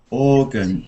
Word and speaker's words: organ: Organ. Stressed at the beginning, isn't it?